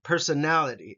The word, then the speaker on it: personality: interests interests personality personality again five uh syllables in this one personality and then nality gets the emphasis personality I will now